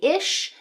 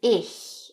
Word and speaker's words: ich: So lots of people will say (ish) that can also be regional, or even (ick) make it make it hard like that. That's another regional difference. But Standard High German is 'ich'.